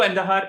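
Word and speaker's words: Andújar: uh pablo and his his pronunciation itself sounds like kandahar so so there is that so pablo endahar is someone that i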